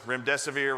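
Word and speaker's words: remdesivir: so we want to make sure everybody knows rim death of ear rhymes with run death is near veery means Chooser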